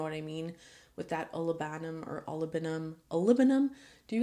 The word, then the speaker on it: olibanum: With that olibanum or olibanum. Olibanum? Do you guys say olibanum or olibanum? I've seen people say olibanum, but I always said olibanum, like aluminum.